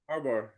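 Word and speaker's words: Harbaugh: And um on the other side, interested to see where where does um how you pronounce his last name? I I Harbar.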